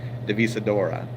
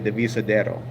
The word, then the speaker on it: Divisadero: in a place is called the visa door Divisadero I think it's how you pronounce like I've mispronounced it in the video kept saying the visa Dora but it's actually the visa Darrow and that means divided in Spanish like the